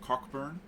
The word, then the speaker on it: Cockburn: scoffield I think about this funny Australian town city that you all pronounce wrong it is pronounced cockburn sorry just the instant